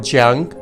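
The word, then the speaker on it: 江: The first time you see the word jiang, which is this character, you will see work in the water.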